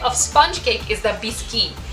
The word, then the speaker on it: biscuit: the first type of sponge cake is the bisy it's actually written like biscuit but it's pronounced biscuit so this tends to be a